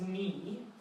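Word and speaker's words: 你: Now, the pronunciation of this one is ni.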